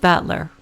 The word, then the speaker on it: Battler: And it's pronounced Battler.